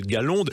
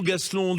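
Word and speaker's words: Gaslonde: Il y a pas que celui-là, il y a le Galonde. Vous dites Galonde ou Gaselonde vous ? Chez al nous on dit galon prononce pas le s Ouais ouais c'est ça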